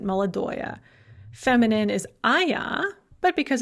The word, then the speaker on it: молодое: Once again, we have oya, but we actually pronounce it, молодое.